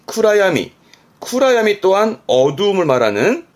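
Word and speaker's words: 暗闇: 그래서 발음이 쿠라야미.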